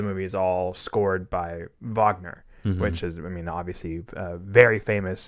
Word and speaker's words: Wagner: uh German composer and you can tell based on the fact that it's spelled with a W do you mean Wagner yeah uh a lot a lot of a lot of uh V's replacing W's over here yeah um yeah and